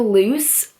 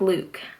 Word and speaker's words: Luc: I always called him loose cuz his name is spelled Luc but I found out that you actually pronounce his name like Luke I kind of like